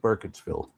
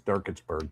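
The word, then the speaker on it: Burkittsville: Well, I'm still with Burketssville even though I mispronounced it as Durkittsburg before.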